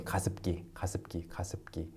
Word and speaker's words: 가습기: So that's why when you say it really quickly, it sounds like 가습기.